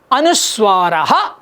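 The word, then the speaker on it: अनुस्वार: அந்த புள்ளிக்கு பேர் அனுஸ்வாரா. தமிழில் சொல்லும்பொழுது அனுஸ்வாரம்னு சொல்லுவோம், சம்ஸ்கிருதத்தில் சொல்லும்போது அனுஸ்வாரா அப்படின்னு சொல்லணும்.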